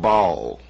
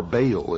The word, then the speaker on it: Baal: For this is the only ancient portion, the beginning of the ancient worship of Bal or Baal as some pronounce it.